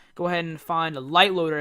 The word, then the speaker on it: LiteLoader: ahead and find the light loader it's spelt light like so and not actual light and go ahead and